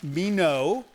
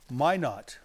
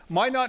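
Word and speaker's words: Minot: all the way from Mino rhymes with why not my not no that's a French word it's Mi n o t Mino right Mino Mino but they say it's it's pronounced my not all right let's go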